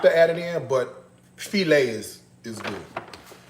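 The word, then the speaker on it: filé: And then of course you have to add in you don't have to add it in but felt is is good. Not file. Okay. It's pronounced felt.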